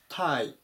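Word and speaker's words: tie: ことです 106 番タイタイ発音に注意ですね最初の部分で T っていう風に読まないように気をつけましょうネクタイとか紐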